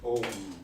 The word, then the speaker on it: Om: It's written A-U-M. Yes, But you pronounce Om. yes. A and U pronounce Om.